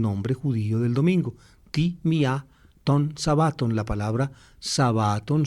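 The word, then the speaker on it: μία: neutro se dice en, y en femenino se dice mía, mía, y es la costumbre de, digamos, de acentuar ese, de volver aguda la palabra, que es donde pues decir, el acento disolvía el diptongo y pronunciaban mía, mía, significa el día 1 de la semana.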